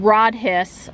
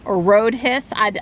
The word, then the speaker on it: Rhodhiss: down there too so this is rod hiss rhodhiss I have to ask a local how they pronounce it North Carolina it is named for John M Rhodes and George B hiss they joined together to